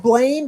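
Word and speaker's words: Blame!: Was I think it's spelled Blame, but I think it's pronounced Blam.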